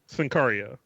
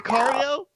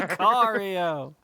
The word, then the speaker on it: Sicario: syllables. Go for it. Yeah. Sincaria. What? Chicago. No, is that Sicario? Bryce, you Bryce. want to fix this for him? Chicago. Chicago. Sicario did not win an Oscar. Sicario.